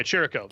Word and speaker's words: Chirico: Yeah, Chirico. There it is. Chirico. Oh, Chirico. Yeah, the Oh, CH is hard. Hey, the three of us, we got to an Italian pronunciation.